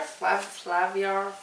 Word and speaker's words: Flaviar: Flaviar. That's exactly how they wanted you to pronounce it.